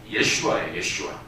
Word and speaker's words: 예슈아: 근데 예수님의 본래 이름은 헬라식으로 부르는 예슈아예요. 예슈아.